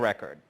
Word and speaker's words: record: ساعات تلاقي مثلا كلمه زي دي ليها نطقين زي ما هتسمع دلوقتي. Americans with a criminal record.